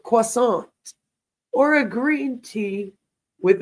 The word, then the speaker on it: croissant: sipping a double espresso with a croissant, which is how you say that word, croissant, or a green tea with a granola bar.